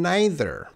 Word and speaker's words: neither: They have two pronunciations. So it's either or either and neither and neither. Both are okay.